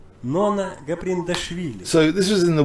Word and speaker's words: Gaprindashvili: So opponent Nona Gabrielshuri. Well, who is that opponent? I hope there's a pronunciation for her opponent. Nona Gaprindashvili. Oh, that's the one. Nona Gaprindashvili.